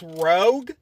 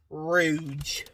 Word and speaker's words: Rouge: To be honest, I thought her name was Rogue, like Rogue from X-Men, but no, it's pronounced Rouge.